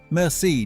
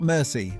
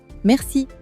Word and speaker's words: merci: That vibration at the back of your throat, that is the French R. Paris, not Paris. Listen. Paris. Merci, not mercy. Listen. Merci.